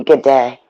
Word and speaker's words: Godet: It's goody. We decided he wouldn't tell me how to pronounce it, so we decided from now on it's goody. No, it's not. It's, if anything, it would be good day.